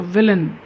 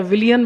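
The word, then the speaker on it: villain: के अंदर घुस गए सो विलन कुछ लोग इसको बोलते भी गलत है विलियन बोलते हैं तो जब हम किसी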